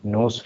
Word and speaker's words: Nous: Now this was developed by a team from NOS Research. It is pronounced as it is spelled as NOUS, NOS Research.